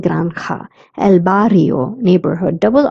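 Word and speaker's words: granja: bungalow la granda farm j is pronounced as that's why I'm saying granda elbario neighborhood double r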